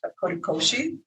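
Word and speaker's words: kodokushi: And the colliery for older people is also this notion, and it's pronounced korikoshi, and it is lone dying.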